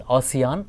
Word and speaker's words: ASEAN: So, ASEAN stands for, it is not pronounced as Asian, but it is pronounced as ASEAN, Association of Southeast Asian Nations.